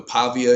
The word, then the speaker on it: Pavia: They had a, you know, Pavia is, that's how you say his name.